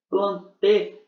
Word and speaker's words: plantae: Plantê, se escreve plantae, mas fala plantê, quer dizer planta.